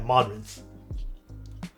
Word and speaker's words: Modrinth: Is that how you pronounce it? Yeah, Modrinth.